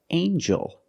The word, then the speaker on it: angel: In this word, the G makes a j sound, like jump and juice. Together with the N, a regular N sound, not the nasal but the regular N. Angel. Angel.